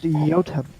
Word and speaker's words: Jotun: Excuse me, it's pronounced Jotun. I looked it up Oh, excuse me. because it comes from the Nordic language.